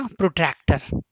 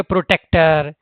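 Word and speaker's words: protractor: वह है यह आपका प्रोटक्टर। देखिए स्पेलिंग कुछ लोग गलत पढ़ते हैं इसको। ठीक है? प्रोटेक्टर यह सब पढ़ते हैं। तो यह है प्रोटक्टर। राइट?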